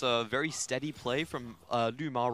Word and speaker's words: LvMao: like a V to me, but it's LvMao.